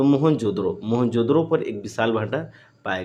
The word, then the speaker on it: मोहनजोदड़ो: मोहनजोदड़ो की शब्द का सही उच्चारण मुअन जो दड़ो।